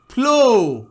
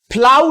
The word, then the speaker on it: flow: আবার দেখো ও ডাব্লিউ থাকলেও তাই, এফ এল ও ডাব্লিউ FLOW, ফ্লো। ফ্লাউ নয়, ব্লো।